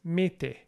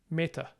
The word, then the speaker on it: mete: So it's mete, mete, rather than meta.